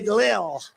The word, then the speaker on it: Lil: L-I-L. Lil. I said, how do you pronounce that? They say Lil.